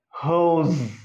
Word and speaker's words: hose: It is pronounced hose. Final sound is as in zip.